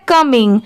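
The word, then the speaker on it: coming: ये है कमिंग, COM क्या हो गया, इसे कॉम नहीं पढ़ेंगे, इसकी साउंड क्या आ रही है कम।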